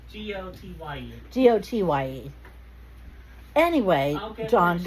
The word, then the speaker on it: Gotye: I believe it's Gotai. Gotai? Goyte? Gotye. Gotye.